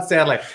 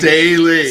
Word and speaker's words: Staley: off somebody's ham hog okay get to Don Stanley so South Carolina game Staley Staley oh I said it wrong too South